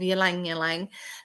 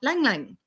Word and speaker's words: Ylang Ylang: If you're like me, you might have once pronounced this oil as ylang ylang, but it actually has a mostly silent Y, causing the syllables to roll off the tongue, sounding more like lang lang.